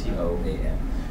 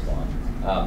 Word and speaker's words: Tuan: I spelled it not phonetically, so it's T-O-A-N. So anyway, it sounds like Toan or Toan, but it's really Tuan.